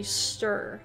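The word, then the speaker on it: -cester: to say that uh imagine the c and the e are silent so just pronounce the stir like worcester gloucester oh man all of these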